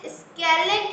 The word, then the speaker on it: scalene: The pronunciation is scalene triangle.